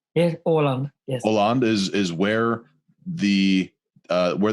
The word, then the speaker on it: Åland: I understand that it's pronounced Hollande, correct? Yes, Åland.